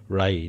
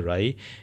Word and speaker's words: wry: राई, WRY, इसको ऐसे प्रोनाउंस करते हैं राई, जहाँ एक्सप्रेस बोथ डिसअपॉइंटमेंट और अम्यूज़मेंट, जहाँ की हमें डिसअपॉइंटमेंट भी हो, दुख भी हो और खुशी भी हो।